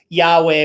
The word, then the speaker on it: Yahweh: i actually pronounce that yahweh which is believed to be probably the closest to how it's it should sound but um nobody really